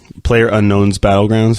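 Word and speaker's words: PlayerUnknown's Battlegrounds: So, Player Unknown's Battlegrounds, that's how you say it.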